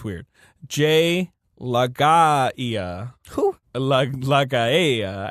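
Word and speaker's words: Laga'aia: Jay Lagaia. Who? Lagaia. I don't know how you say his name. It's LAGA''AIA. Okay.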